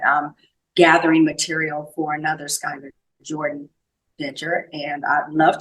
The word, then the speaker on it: Skyler: E because I wanted it to be be pronounced properly Skyler and my under after my email it says